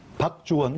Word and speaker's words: 박주원: 박주원, 박주원. 그렇죠. 발음 잘하셔야 됩니다. 박주원입니다.